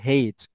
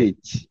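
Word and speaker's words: H: ও এইচ এইচ এইচ অনেকে সত্য ভাবে বলতে গিয়ে বলেছে হেইচ এইচ বলে এইচ এটা এইচ ও হবে না এটা আবার এইচ ও হবে না এটা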